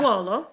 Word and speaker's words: Sassuolo: Yeah, Sassuolo.